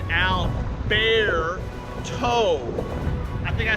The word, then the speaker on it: Alberto: Again, my meteorologist friends have all kind of told me that I'm still pronouncing it wrong. It's Alberto.